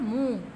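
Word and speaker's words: मुँह: move लिखा हुआ है और सही उच्चारण है मुंह मुंह में चंद्रबिंदु का प्रयोग किया जाता है यानी अनुसार से का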